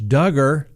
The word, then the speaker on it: Duggar: the docket who will josh duggar rhymes with hugger be hugging tonight in